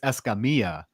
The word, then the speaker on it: Escamilla: fine uh okay so if you want to be Technical and pronounce it the the correct Hispanic way it's esamia um esia because you know double LS in Spanish or wise uh however I grew